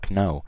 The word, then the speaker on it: know: example wrong no okay so here there is no K whatsoever me I don't I I never pronounce the K I don't say no I say no however there's a silent K it is what it